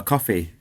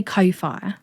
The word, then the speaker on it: Ko-fi: Is it pronounced Ko-Fi or coffee? I say Ko-Fi. I think Ko-Fi sounds cooler, doesn't it? Yeah, I'm going to go with what Emily says. She's usually right. I think it's coffee, but I'm going to say Ko-Fi.